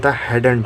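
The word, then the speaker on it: hadn't: इसका जो correct pronunciation होता है हैडेंट।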